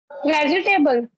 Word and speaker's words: vegetable: visiting vegetable. Hmm. So the correct pronunciation is vegetable. What? Vegetable. It's vegetable. The second is silent. Those there are plenty of words like this which are mispronounced.